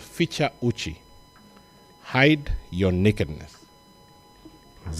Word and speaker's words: Ficha: are not necessarily Kenyans feature is spelled in the way that it sounds f i c h